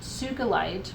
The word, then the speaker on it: sugilite: one more to go so sugilite is sometimes pronounced sugalite or um sugilite um because it was